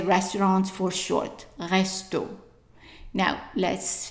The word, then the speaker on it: restaurant: And that's actually how we say restaurant for short, resto. Now, let's finish the word. The T at the end is silent. The AN, as we said, is pronounced en. So, how would you say the whole word?